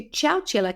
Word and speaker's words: Chowchilla: I'm going to take you to Chowchilla, and it is spelt like you think, Chowchilla, Chowchilla.